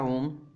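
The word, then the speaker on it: ohm: हैं, बट इसको आप ओम समझ लो, ये ओम का सिंबल है, ठीक है। ये एसआई यूनिट्स है, ठीक है। इसका प्रोनाउंसिएशन ओम होता है।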